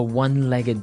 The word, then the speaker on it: one-legged: So he said, where do you find a one-legged dog? So what's a one-legged dog? Basically, it's a dog that has one leg. Ah, okay, and the pronunciation here is important, right? One-legged. Not one-legged. No. One-legged.